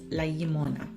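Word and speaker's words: llimona: the Elder sound the Double L so it's lagimona kind of like the word for milk like yet you kind of make that sound I have to make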